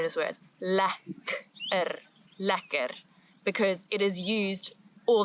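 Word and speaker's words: lekker: sometimes say, but it's more commonly used as ler ler. Nice. Delicious. This food is very nice. This word is a must. You must learn how to say this word. Ler ler because it is used all the time in South Africa.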